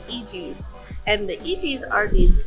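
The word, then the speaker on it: Eegee's: If you're wondering how to pronounce this, it's EGs.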